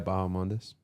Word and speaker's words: Bahamondes: Bahamondes? Yeah, Bahamondes.